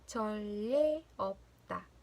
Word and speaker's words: 전례 없다: 발음은 전례 없다.